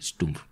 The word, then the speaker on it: Stumpf: Esos oficiales serían Sperler, Weber, Kesselring y Stumpf, siempre se olvida que en alemán se pronuncia así, Stumpf, que formarían algún día el núcleo de los mandos del Luftwaffe.